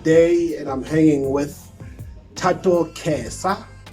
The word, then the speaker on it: Thato Khesa: Today it is Sunday, a blessed day, and I'm hanging with Thato Khesa. Is it the right pronunciation?